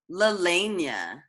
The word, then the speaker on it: Lelehnia: Lelania.